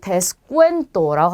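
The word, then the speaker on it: descuento: 자, 마지막 단어는 데스쿠엔토라고 합니다. 방금 전에 보셨던 이 부분은 꾸로 발음되는 거 기억나시죠?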